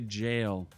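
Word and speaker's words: gaol: mispronunciations there in that good old Elden ring if you run across a g you know a go it's really a jail uh so there's more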